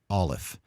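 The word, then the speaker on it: aleph: now which is olive olive is a silent letter the closest thing to a pronunciation you might do with an olive is to come to maybe a full stop if it's in the middle of a word a quick but full stop or maybe a sound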